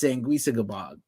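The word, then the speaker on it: Sanguisugabogg: sang sangua goog's catchphrase it's pronounced sangua gabog they literally copied their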